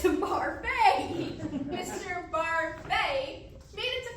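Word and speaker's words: Barfée: Mr. Barby. It's Barfay!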